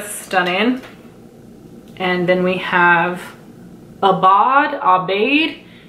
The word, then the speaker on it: Aubade: And then we have Aubade, Aubade. It's spelled A-U-B-A-D-E, which is like a coppery gold.